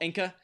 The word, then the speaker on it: Anka: So the panelists' guesses were Al Roker, Ringo Starr, and Paul Anka. That's how you pronounce it, right?